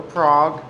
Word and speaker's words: Prague: i teach over at craig or prague or prawha however you want to pronounce it and i'm going to